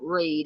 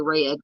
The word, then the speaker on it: Read: uh donated to um True Crime web Foundation pronounce like Reed okay thank you Nan I can't want to say red Karen Reed okay thank you Dy Dy says